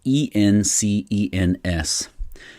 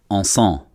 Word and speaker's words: encens: It's my understanding that in French, incense is E-N-C-E-N-S, which I think is encens, E-N-C-E-N-S. I don't think you pronounce the S at the end.